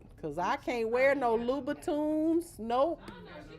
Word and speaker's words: Louboutin: Felt like them damn Louboutins. Yeah, I'm about to say. That's why you can't give me a pair of Louboutins. Right. That's how you say it, eh? Louboutin, Louboutin, Louboutin, Louboutins.